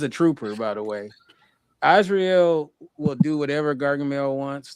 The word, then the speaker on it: Azrael: We're gonna jump all around, but before we get to the Smurfs individually, besides Smurfette, let's talk about Azrael. Right, that's how you pronounce the cat's name.